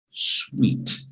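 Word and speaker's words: suite: it with me everybody sweet okay this particular sweet is not spelled s-w-e-e-d it is spelt s-u-i-t-e and it is part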